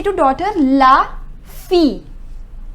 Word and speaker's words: fille: say to daughter la fille Double L is silent next children lay sofa